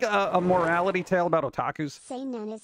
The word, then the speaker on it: Seinen: Seinen is how you pronounce it, and it's aimed at young males. Seinen.